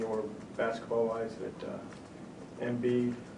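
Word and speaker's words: Embiid: basketball wise that uh mbid that's how you pronounce it does better than any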